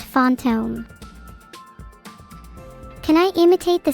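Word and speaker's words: fantôme: In French, it translates to phantom, pronounced fonttome.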